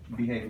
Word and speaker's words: behave: So where are we putting the emphasis? Hey, Hey. Well, let's see how it changed the word. Is which part gets it? Which syllable? The first or the second? I guess the first. The first. So we get behave.